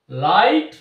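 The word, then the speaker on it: light: মধ্যে আমরা আনলাম না অর্থাৎ এখানে লেটার দুটি সাইলেন্ট রয়েছে তো এখানে তোমরা যে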